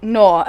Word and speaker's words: Noir: How do you pronounce that? Noir. Noir.